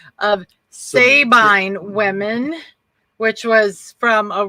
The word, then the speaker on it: Sabine: they can get married but anyway the term sovereign women was their mispronunciation of sabine women which was from a roman story and